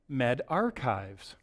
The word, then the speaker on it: medRxiv: But apparently it's pronounced MedArchives. I did not know that. So this is the MedArchives server, and it was the initial publication, this preprint server, that published the recovery trial.